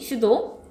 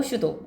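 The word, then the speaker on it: pseudo: 사이비 슈도 발음이 피가 안 나지? 네. 피 안 나고 슈도.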